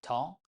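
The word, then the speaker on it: ط: La lettre 19, T ou Ta, son nom c'est Ta, mais on prononce tout simplement comme T en français.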